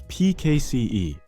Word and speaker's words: PKCE: That's PKCE, or proof key for code exchange, pronounced PKC. It verifies that the client redeeming the authorization code is the same client that originally requested it.